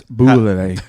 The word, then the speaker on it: Bulleit: So is it pronounced Bullet or Bullet? It's Bullet. Bullet. I think it's Bullet. It's Bullet Bourbon. Spelled Bulleit.